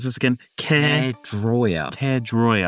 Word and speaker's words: Caerdroia: Caerdroia. Caerdroia. I always say Caerdroia, but it's Caerdroia.